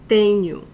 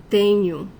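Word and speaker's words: tenho: see the end new the stronger syllable of this word is the first one tenu when a word ends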